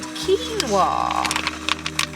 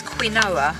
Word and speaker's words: quinoa: And I'm just doing a mixture of brown rice and quinoa. A lot of you might know it as quinoa, but it's pronounced quinoa.